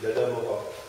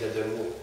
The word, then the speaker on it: Dadamora: Sur vos feuillets, vous pouvez lire qu'il est écrit biographie d'Adam Mora. Mais ça, c'est la prononciation française. La prononciation malgache, c'est d'Adamour.